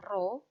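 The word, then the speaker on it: rho: selanjutnya adalah masa jenis massa jenis lambangnya adalah roh ini bacanya oh nah massa jenis itu punya rumus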